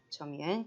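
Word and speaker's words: 侧面: 옆면이고, 읽을 때는 처라고 읽으시면 됩니다. 처음이엔.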